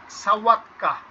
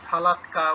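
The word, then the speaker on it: sałatka: কি খাবার আছে দেখেন, সাওয়াতকা, এলটা এই যে আছে সালাতকা উচ্চারণ, পরের পেজে প্রথম লাইনে দেখেন সাওয়াতকা, কিন্তু এটা তো এলটা কেটে দেওয়া, তো এটার উচ্চারণ তো হয় ও, তো সাও সালাদ, অর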